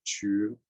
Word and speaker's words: Zhu: So anybody that has the G character, or Chu, as I believe it's pronounced in Mandarin, is in the family.